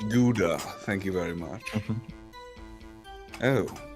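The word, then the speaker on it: Gouda: whiskers sorry oh okay whatever it's pronounced guda thank you very much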